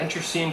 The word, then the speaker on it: internecine: The red tribes continued their how do you pronounce it? Intercene. Yeah, internecine conflicts, and presently they began to suffer repeated